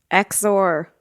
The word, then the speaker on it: XOR: So let's see how you pronounce this. What is the word at the top of that index card? Exor.